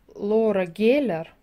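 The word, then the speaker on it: Laura Geller: Если вы где-то увидите косметику Лора Геллер или Лаура Геллер, пишется Лаура, говорят Лора, то присмотритесь, потому что это супер классная косметика.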